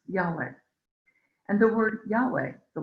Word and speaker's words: Yahweh: the initials yhwh which would which today we pronounce yahweh and the word yahweh the linguists tell us